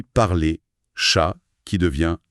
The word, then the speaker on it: parler: Il parle beaucoup des lettres finales muettes. Ah oui, ça c'est majeur en français. Ça change tout pour la fluidité. Le guide donne des exemples. Oui, il cite parler qui se dit parler, chat qui devient chat.